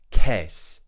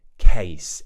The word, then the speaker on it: case: the same thing here they might say k instead of case a make sure you're doing that a a case in this